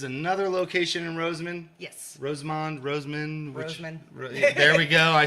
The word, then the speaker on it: Rosamond: Rosamond.